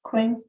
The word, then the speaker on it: Quaine: I had a meeting last weekend with Holly Quain, I think is how you say her name. Yes. Quain, okay.